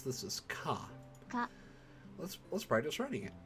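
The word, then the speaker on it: か: You pronounce this as Ka.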